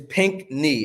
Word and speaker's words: Pinchney: say the last thing is pink knee as if your knee was pink oh pink knee that's